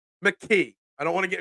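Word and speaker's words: McKee: people calling for Tanner McGee mcke I don't want to get in trouble I said McGee it was a mistake it was a slip of the tongue don't call out my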